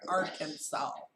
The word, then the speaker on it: Arkansas: There are just too many vowels in that, but you don't pronounce them. So Arkansas. Yeah.